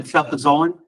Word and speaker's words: cefazolin: And so the cefazolin, that's the correct pronunciation.